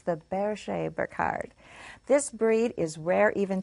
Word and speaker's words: Berger Picard: Spotlight Shines on the burger perard pronounced that way in America in France it's the bee Bard this breed is rare